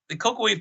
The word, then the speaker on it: Kokoweef: So it's the Cocoa Weave Caverns. It's a long story, and you'll have to look it up. It's spelled with a K, Kokoweef.